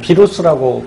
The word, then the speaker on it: 바이러스: 하는데 그 녀석이 누구냐면 바로 이 바이러스죠. 뭐 비루스라고 발음하기도 하고요.